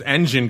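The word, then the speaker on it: Enjin: technical shot funny because there's engine coin e NJ i n then there's engine like you would spell it and there's engine coin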